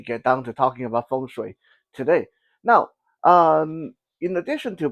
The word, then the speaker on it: feng shui: because when I say feng shui, I feel like I'm going to bite my tongue and make me wince when I say uh, Chinese pronunciations with that weird English intonation. So feng shui.